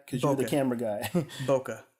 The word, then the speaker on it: bokeh: Plus is it has this new thing called bokeh. Am I pronouncing it right? Because you're the camera guy. Bokeh. Bokeh, okay, sorry.